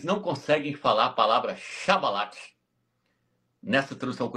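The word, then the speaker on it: שיבולת: Os pastor também fala chibolete, mas não é chibolete. Tem uma página no Google Tradutor que eu traduzi, a palavra é essa aqui, ó. No hebraico se escreve dessa forma aqui, ó. Chá. Tá vendo aqui, ó? O hebraico aqui, ó. Esse aqui é chabalate, não é chibolete não.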